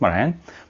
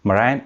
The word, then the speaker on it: Marijn: data career and we have a special guest marian marian is a sociologist and a data scientist he works at capgemini did i pronounce it correctly i had to i had